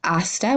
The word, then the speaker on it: hasta: they both start with hasta once again we don't pronounce the H for see you later